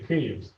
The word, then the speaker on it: Kyiv: So Kyiv, it's Kyiv, or in Ukrainian we say Kyiv.